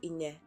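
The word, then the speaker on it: Inej: So now we go to chapter 2, titled Ine. It's spelled I-N-E-G, but I do believe it's the J might be silent.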